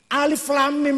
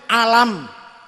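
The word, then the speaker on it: الم: ilmune jenenge ilmu tajwid Alif Lam Mim niku ora ono ilmu tajwid kulo dewe Mac se alam Alif Lam Mim niku tak woco alam niku tapi karena Ibu tajid bilangnya jangan gitu bacanya ini yang ini yang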